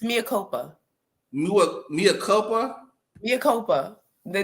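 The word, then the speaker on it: Mea Culpa: What's the pronunciation? It's Mia. It's Mia Copa.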